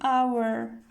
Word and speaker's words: hour: And here because it begins with a vowel sound, hour, so we write an.